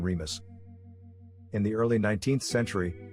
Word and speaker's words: Remus: the progenitors of rome in latin their names are pronounced with the accent on the second syllable romulus and remus in the early 19th